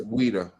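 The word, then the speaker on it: Ouidah: Weda weda.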